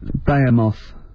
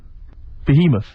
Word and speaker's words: Behemoth: Deathly Bayamoth. Behemoth.